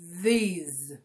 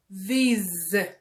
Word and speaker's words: these: In English, any word that finishes with letter E, that E is silent. So you will never say these. Never. It's like that last E is not there. You have to write it, please, but you are not gonna pronounce it, okay?